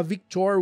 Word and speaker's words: Victoire: A Victoire também foi cortada, que é a filha do Guy e da Fleur, que inclusive a pronúncia é Victoire, não é Victoire, porque é francês o nome dela.